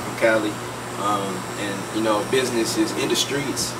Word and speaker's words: Industreets: And business is Industreets. It's spelled like INDUSTREETS TV. It's all one word. Industreets TV. Not ND Streets, Industry. It's spelled like industry and street put together.